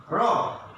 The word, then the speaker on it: robe: R-O-B, rob, and another robe. খেয়াল করো উচ্চারণটা, খেয়াল করো রব মানে সোজাসুজি হবে, আমাদের উচ্চারণটা হবে এখানে সোজাসুজি রব। আর R-O-B, রোব, দ্যাট মিনস এখানে হবে